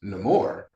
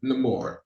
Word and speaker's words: Namor: I so much appreciated that you have been pronouncing Submariner's name the way he pronounces his name, which is Namor.